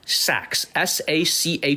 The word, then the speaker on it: Sachs: Jeffrey, Jeffrey Sachs, Sachs, like Goldman Sachs.